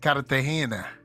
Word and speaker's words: Cartagena: it how they say it, Cartagena.